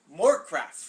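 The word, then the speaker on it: Morecraft: Stefan Struve against Christian Moorcraft. Rhymes with Warcraft.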